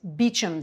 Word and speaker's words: Beauchamp: Beauchamp Terrace in London is Beecham Terrace.